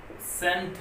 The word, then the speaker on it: scent: जैसे सेंट word है SCENT, तो सेंट आ रहा है सेंट, तो एस के बाद आया हुआ सी, जो सी है वो साइलेंट रहेगा इसमें।